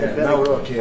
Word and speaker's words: Nawrocki: I Nawrocki.